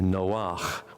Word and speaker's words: Noach: And I have continued to belabor the point that Noah is a woman's name as opposed to Noach, which is a man's name.